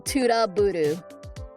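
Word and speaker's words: トラブル: Yeah, it's uh Romagi for trouble. Tuda Buru is uh how is how you say it.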